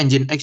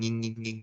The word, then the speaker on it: Nginx: Bacanya Nginx ya guys, jangan nging gitu ya.